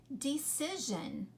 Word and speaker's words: decision: a lot like division but it's decision okay i'm going to make a decision do you hear the zhan at the end all right there are